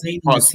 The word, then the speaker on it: Pausanias: Pausanias, if I'm saying it right. Pausanias, yeah.